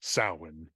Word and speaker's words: Samhain: It's spelled Samhain, but it's pronounced Samhain, just because in that area of the world, spelling is just a complete Is that a mystery.